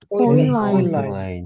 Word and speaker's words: Fräulein: Fräulein, 아인이나 셴이 독일어에서는 쬐끄맣게 만드는 느낌이어서 중성어로 바뀝니다. 그래서 디파우가 여성이면은 das Fräulein 하면 에우는 어휘 발음이 된댔죠.